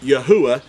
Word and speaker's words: Yahweh: knowing that the name of the Creator is pronounced Yahweh and uh and it's not and it's not